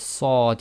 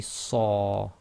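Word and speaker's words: صَ: So with sad you can't say sa, it must be saw, and with kha you cannot say kha, it must be kha.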